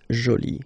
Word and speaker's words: jolie: you can see that you put this but then you don't pronounce it okay so it's Jolie so basically the two